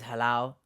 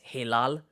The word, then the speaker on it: Hilal: Oh, by the way, my name is Halal, if you do not know this, but if we're pronouncing it like the Turkish way, it's Hilal, like a lullaby, but Halal is like more commonly said.